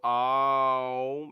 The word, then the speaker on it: Om: Ah, and as you go Aum, you close your mouth. Om. Aum. Aum. Auma. It is a sound that defines the world. It is a sound of three syllables.